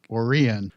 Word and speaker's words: Orion: Yeah, Orion is pronounced Orion.